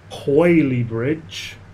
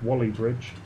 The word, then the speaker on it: Whaley Bridge: It's Wally Bridge. If you're of Mancunian origin, Wally is in W-A-L-L-Y, but it's spelt Whaley, W-H-A-L-E-Y, Whaley Bridge is how it's spelt, but it's pronounced Wally.